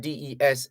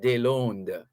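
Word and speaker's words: Deslandes: they learned is spelled d-e-s-l-a-n-d-e-s that's a french pronunciation here in jamaica people say des landes but it's actually french it's de londo so embattled president of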